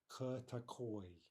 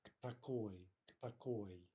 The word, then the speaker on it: к такой: But remember, we can't be breaking that up with a vowel and saying something like k такой, right? It's k такой.